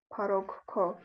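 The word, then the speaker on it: փառք քո: Lien yerking yev yerkir parok ko. So you hear how she says parok ko. There's two k's, aspirated k's, one after the other.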